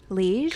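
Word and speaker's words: Liège: So at Epcot at Connections Cafe, you can get a caramelized apple, I don't know how to say this word, liege?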